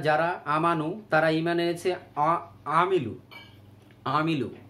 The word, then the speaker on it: عملوا: আমানু তারা ঈমান এনেছে, আমিলু আইন কঠোর করে উচ্চারণ হবে, তারা আমল করেছে, সলিহাত